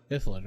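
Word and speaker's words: Illithid: Because help me pronounce it. What? Ithalid? Gith Zerai? Ithalid. Ithalid, right?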